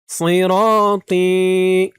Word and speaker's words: صراطي: আলিফ ওয়া আন্না হাযা সিরাতি র এখানে দেখুন একেবারে সি বলা যাবে না, সি বললে কিন্তু সিনের উচ্চারণ হয়ে যাবে, বলতে হবে সই সই র র একালিফ